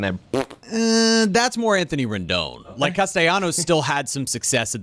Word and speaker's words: Castellanos: I was surprised to see Nick Castellanos, although he pronounces his Castellanos.